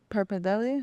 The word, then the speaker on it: pappardelle: Okay, so I really like the short rib pappardelle.